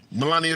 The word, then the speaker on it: Melania: pronounced her name wrong I pronounce it Melania I'm not sure if that's correct that's right Melania Trump yeah oh okay